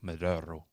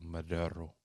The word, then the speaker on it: Maduro: Apparently, I've been pronouncing Maduro wrong. Apparently, it's like Maduro. I watched a woman from Venezuela say Maduro.